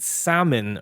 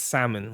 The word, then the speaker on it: salmon: Is it salmon or salmon? It's the salmon? first one. I think it's salmon, right? Like the What? Yeah, Is the it? L is silent.